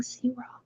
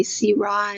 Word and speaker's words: Syrah: Okay, so now when we go to ask for a Syrah, we're going to say Syrah, and people, okay. And just tell them that's the French pronunciation.